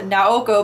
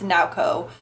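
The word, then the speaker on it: Naoko: with a girl that I originally had pronounced her name is now go but apparently it's now Co now it makes this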